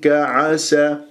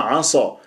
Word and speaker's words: عسى: خطا فننتبه فاولئك عسى شوف البعض يعملها عصا لانه عندك انت سين مفتوح قبل اسم الجلال الله تفخم اللام من اسم الجلال الله فتقول عسى الله وهذا من العصيان اسال الله العفو والعافيه فلا بد ان ترققها عسى عسى الله عسى وليس عصا فانتبهوا الله لا الشفاء